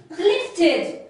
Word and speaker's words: lifted: Lifted. Lifted. So how do you pronounce?